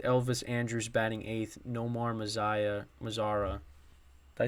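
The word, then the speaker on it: Mazara: I said Mazaya, but I think I said that the other day. Nomar Mazzara batting ninth. I think I said Mazaya the other day. So it's my bad again with the pronunciations.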